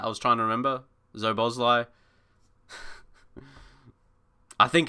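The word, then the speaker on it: Szoboszlai: It's pronounced Zobozlai. Did I say something similar to that? I was trying to remember. Zobozlai.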